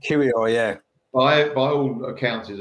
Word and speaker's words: Kiwior: For example, Tierney, fine, but if he plays next to Kiwior, is it the guy, how you pronounce his name? Kiwior, yeah.